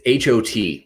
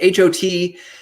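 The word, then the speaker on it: H.O.T.: So one of the biggest ones to come out, though, is HOT, which I think some of you might be familiar with. HOT, pronounced just like that, stands for High Five of Teenagers.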